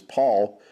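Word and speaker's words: PAVL: And that's because the V and the U carried the U sound, and the V actually was a new sound that came into our language, but it actually carried the U sound, as it would have been P-A, pronounced as Paul, but it's written here with a V.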